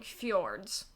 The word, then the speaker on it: fjord: It is now Yeah, F-Jord. like, I like like it. I will use it now. I'm like, I'm not even going to try to pretend to pronounce this, but not Mhm. realizing that the J was more of a yes sound, so Yeah, yeah.